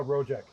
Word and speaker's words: Rojek: so we have and how do you pronounce your last name again uh rojak rojak okay i was gonna say yeah so i'm